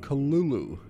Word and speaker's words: Cthulhu: And I heard that H.P. Lovecraft pronounced Cthulhu the way, not the way I'm saying it, and like everybody else says it. He says it really like, what is it? Like Cthulhu. It sounds really strange.